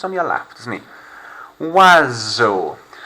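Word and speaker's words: oiseau: your lap doesn't he wazzo there's almost a whistle sound being made there so you don't have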